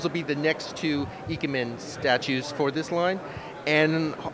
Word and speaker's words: Ikemen: Can you pronounce this for me? The Ikemen line. Ikemen line.